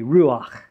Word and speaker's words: ruach: one of them said you have to have a little spittle coming out of your mouth in order for you to be saying it right now we won't go